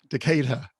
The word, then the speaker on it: Decatur: You were brought up in how do I pronounce this? Decatur. Decatur in Georgia.